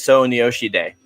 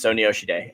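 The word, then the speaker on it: 소녀시대: is girl's generation uh girls generation is their americanized name their real name is so nyoshi day so it's snsd it's so nyoshide and like yeah i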